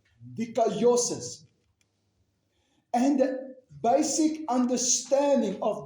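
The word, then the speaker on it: δικαίωσις: And that word justification is the Greek word G1347 and you pronounce it deosis. Decayosis.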